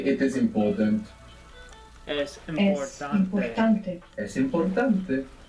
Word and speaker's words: importante: important becomes importante, importante. Where's the stress there? Seems like the stress is on the O. Importante. In the second last.